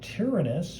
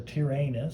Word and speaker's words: Tyrannus: This is the debut of Tyrannis or Tyrannus depending you want to pronounce it.